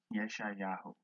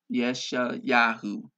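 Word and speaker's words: ישעיהו: words, as some may find it difficult to pronounce them. Okay, in the English. Yeshayahu. Yeshayahu.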